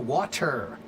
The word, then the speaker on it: water: But it's not a good idea to think about it like the word is water. W A D E R. No, it's still water. But it's a half T.